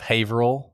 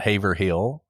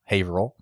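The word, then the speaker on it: Haverhill: Uh she's just outside of Haveril, not Haver Hill. Haveril.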